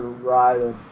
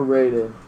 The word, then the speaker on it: Raiden: If you want to call it Raiden or you want to call it Raiden, Mortal Kombat actually pronounces it Raiden. Ed Boon has said that's the official spelling for that, but the technical Japanese name is Raiden.